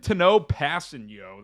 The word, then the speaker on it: Tanoh Kpassagnon: And they mentioned Tanoh Kpassagnon. That's how you pronounce his name.